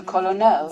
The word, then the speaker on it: colonel: Time goes by, and wouldn't you know it, people are spelling it the Italian way and pronouncing it the French way. Meanwhile, the French switched over to colonel in spelling and pronunciation.